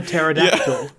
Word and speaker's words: pterodactyl: in calling it a pterodactyl there's no you don't pronounce the P I Miss I heard